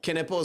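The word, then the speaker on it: Knueppel: Knippel is how you say his Knippel, last I name.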